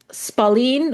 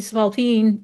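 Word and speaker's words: spalpeen: It's actually supposed to be Spalpine, and sometimes they misspell it as Spalene. And I finally got tired of seeing it, because when I see Spalene, I keep thinking of Spalding.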